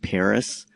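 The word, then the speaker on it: Perris: It's a little east of the city of Paris, which is spelled P-E-R-R-I-S, right?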